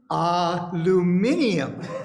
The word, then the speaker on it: aluminium: And one of the ladies suggested that for reading the poem, I use the British pronunciation, aluminium. That's how they do it in Britain.